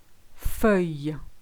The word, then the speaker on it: fauteuil: chosen is for you for you you've got a which is the EU the i double-l like the sound yeah and then the is